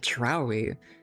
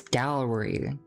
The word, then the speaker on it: dowry: Why do I keep pronouncing it drowy? It's dowry, not drowy.